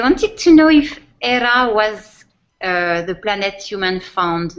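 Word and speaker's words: Éire: which in Irish is spelt e IRA and pronounced era yes he wondered if there's a connection to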